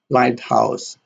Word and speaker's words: lighthouse: We have blackboard, lighthouse, sunset, typewriter. In blackboard, the primary stress is on black, and board here has a secondary stress. Lighthouse, light has a primary stress, and house has a secondary stress.